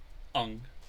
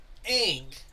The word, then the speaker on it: Aang: Where do you even get a U from? Right? It's like, it's A-A-N-G. Ang.